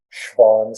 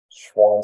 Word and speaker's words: Schwann: A lot of nerves have a wrapping, which are these living cells called Schwann cells. Schwann cells or Schwann cells is spelled for you right here.